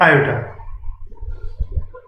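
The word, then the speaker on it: iota: इसको बोलते हैं आयोटा। उसका प्रोनाउंसिएशन क्या होता है? आयोटा।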